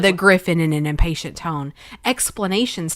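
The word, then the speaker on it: Gryphon: is first said the grien what is a grien that's my it's a griffin why is it spelled like that because it's 1865 yeah nobody knows that that says Griffin why does it spelled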